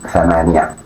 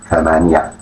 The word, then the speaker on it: ثمانية: Pronounced ثمانية ثمانية ثمانية.